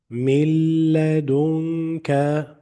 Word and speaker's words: من لدنك: Don't pronounce the letter noon. So here you will say mil, mil, من لدنك مل I am not saying من لا I am saying directly من لدنك like here you will